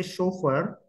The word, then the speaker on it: chauffeur: of the word so when I say chauffeur obviously the first sound that I hear is show F and R so yeah we have